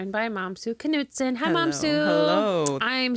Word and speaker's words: Mamisoa: It's pronounced Mamisoa, Mom and Sue together.